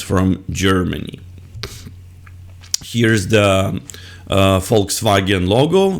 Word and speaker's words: Volkswagen: the uh Volkswagen logo the word Volkswagen is two German words folks or fols I'm not sure if I pronounce it correctly in German so fols uh folks meaning people and vagon meaning car Volkswagen is the car for people next car would be